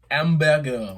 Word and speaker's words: Hamburger: Hamburger. You're stupid. 9-2. That's a middleweight belt. The thing is, the way he pronounced it, that's That's actually how it is.